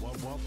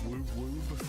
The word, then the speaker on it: wub wub: It's pronounced wub wub, not woob woob.